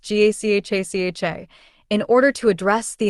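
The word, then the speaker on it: Gacaca: In 2001, the government began implementing a participatory justice system known as Gakaka, pronounced GACHACHA, in order to address the enormous backlog of cases.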